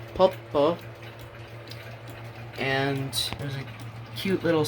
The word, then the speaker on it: Poppo: It's Japanese. The Japanese would pronounce it Poppo.